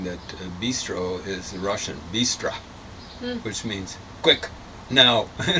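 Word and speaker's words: быстро: And it Russians tend to say in an unaccented syllable at the end of a word, O as bistra.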